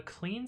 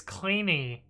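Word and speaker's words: Kleene: learned that the starting regex is called a clean star because of who came up with that and it's like not pronounced the way i expect oh how is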